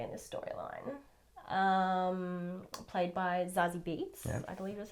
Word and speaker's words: Zazie Beetz: Played by Zazie Beetz, I believe is how you say her name.